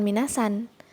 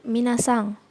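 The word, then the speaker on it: みなさん: sang Mina sang ya n disini Endi belakang itu terdengar ya diucapkan seperti ng gitu Mina sang Jadi bukan minna-san tapi Mina sang artinya saudara sekalian Hai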